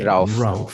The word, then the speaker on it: Rauf: You, Rauf, it's a good pronunciation? Rauf? You're absolutely correct. Okay, Rauf.